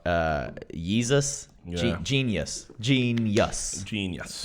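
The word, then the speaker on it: jeen-yuhs: part one's out uh jesus genius gene yes genius it's spelled j e and yes but yeah it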